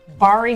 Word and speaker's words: Bari: took over Twitter today I think it's pronounced bari bari Weis yeah who writes